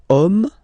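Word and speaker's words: homme: we get the word om man okay but then it starts with Ash as in French Ash is not pronounced so the first sound that we hear is O Okay and then it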